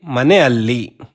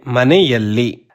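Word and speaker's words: ಮನೆಯಲ್ಲಿ: Here we don't say manealli. We say maneyalli. Additional ya letter is added here.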